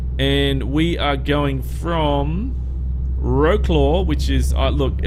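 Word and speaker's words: Wrocław: And we are going from Wroclaw, which is, look, I know that it's said differently, but I'm in Australia and we call it, looks like Wroclaw to me. Wroclaw to Dover.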